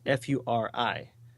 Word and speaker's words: Furi: It's actually one that's being released that day, and it's I don't know if it's pronounced Fury or Furry because there's some furry things in there. It's Furi, and on the surface,